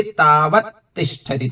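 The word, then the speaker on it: तावत्तिष्ठति: जैसे दर्शनातस्य था वैसे तावत तिष्ठति, तावत तिष्ठति। तावत अलग है, तिष्ठति अलग है, लेकिन जब बोलेंगे उच्चारण करेंगे तो एक साथ आ जाएगा।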